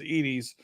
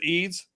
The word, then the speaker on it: Eads: I was pronouncing it incorrectly as Eads. So it's Thomas Eads.